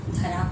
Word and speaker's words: धारा: और यहाँ देखिए इसमें ध में आ की मात्रा नहीं है, इसलिए ये स्पेलिंग होगा धरा। और यहाँ पर ध में आ की मात्रा है, यानी धा, धारा। तो यहाँ धरा मतलब हो